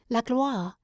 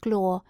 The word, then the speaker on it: gloire: In such ages men cherished a divine ambition, which he might call la gloire. He pronounced it glore, so that Orlando did not at first catch his meaning.